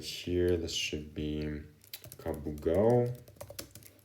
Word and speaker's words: Kabugao: But sometimes they have like quite inconsistent spellings, so sometimes you write it with a K and sometimes with a C, but it's pronounced exactly the same.